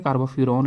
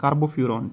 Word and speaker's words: carbofuran: ठीक है, तो पहला स्ट्रक्चर है आपके पास कार्बोफ्यूरॉन का, कार्बोफ्यूरॉन जनरली हम ऐसे जो है उसको प्रोनाउंस कर देते हैं, कार्बोफ्यूरॉन।